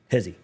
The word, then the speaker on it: Heze: Hezi, not Hezy. I've been calling him Hezy, but I was watching the uh I was definitely watching the u commitment and it's he so apologize previously for mispronouncing his name, but want to get